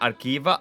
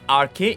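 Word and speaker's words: ἀρχή: The way you have typed it, you would probably pronounce it as arche. It's not arche, it's archi. And it means principle.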